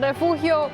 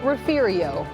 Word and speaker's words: Refugio: But in South Texas, pronunciation varies and even sometimes sparks debate.